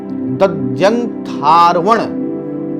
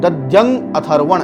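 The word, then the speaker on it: दध्यङ्ङाथर्वण: चौथा क्या है, तच्चक्षुरिति दध्यंग थार्वण, दध्यंग, ये देखिए दध्यंग, ये है ना दध्यंगा, ये दध्यंगाथर्वण ऐसे बोलेंगे। अथर्वण ऋषि जो है उसके बारे में बोल रहे हैं। दध्यंग अथर्वण ऐसे बोल सकते हैं, दध्यंग अथर्वण ऋषिर क्षरातीत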